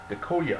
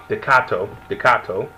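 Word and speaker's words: Takato: You have the main character with Dekoya, I think his name is. Let me say his name right. No, Dekato, and his Digimon Guilmon, voiced by the great Steve Bloom, which I thought was hilarious.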